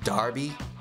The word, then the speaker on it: Derby: might have noticed that his name is spelled Derby but he pronounced it Darby everyone calls him that not sure why me